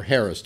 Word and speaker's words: harassed: her at a party or harassed her that's the way you pronounce it actually Bryan forgive me